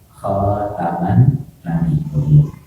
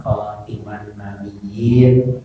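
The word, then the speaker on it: خاتم النبيين: Ini Nabi Muhammad diberi sifat dengan khataman nabiyyin. Ini mungkin ada yang membacanya khatiman nabiyyin. Nah, ini sebetulnya silakan saja, karena memang rujukannya kepada ayat Al-Quran, yaitu liqaulihi ta'ala.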